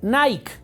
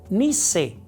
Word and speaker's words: Nike: se escribe nique nique la las personas lo pronuncian pensando que está en inglés y dicen Nike sin embargo fíjate que no es Nike es Nice se escribe Nike se pronuncia ni y Qué significa este